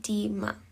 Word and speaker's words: edema: The last term, edema. Pronounce it deema.